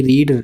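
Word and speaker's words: read: Form लगेगी पढ़ने की, रीड, रेड, रीड। बोलते इसे रीड है, वो पढ़ते इसे रीड है, पर वैसे रेड होता है, रीड, रेड, रेड।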